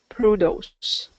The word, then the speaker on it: produce: produce all right okay so produce is going to be second syllable produce first syllable okay so here is